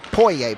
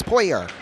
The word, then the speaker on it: Pouyet: Most people would pronounce it Pouyet, but it's Pouyer.